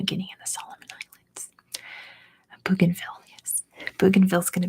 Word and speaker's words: Bougainville: It's pronounced Bougainville.